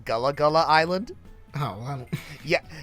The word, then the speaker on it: Gullah Gullah Island: How's it pronounced? Yeah. It's a Gullah Gullah Island.